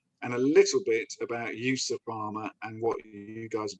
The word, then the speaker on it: EUSA Pharma: out very differently um essentially it's a combination of europe and usa usa that's how the